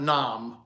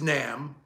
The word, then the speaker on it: NAMM: were at n and it's n pronounced n by the way not Nom so get that straight Samurai because you always say Nom is that nom nom nom um it's Nam National Association of musical Merchants um and I guess